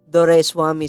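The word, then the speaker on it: Doraiswamy: Dore Swami. So I just simplify it in three syllables. Dor, and wami. So if you just combine those three Oh, elements, that's how you pronounce my name.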